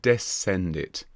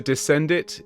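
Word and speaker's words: descendit: All right, so let's have a listen to Descend It. It's one He came down from heaven. Descend. It's definitely an E and an E sound at the end.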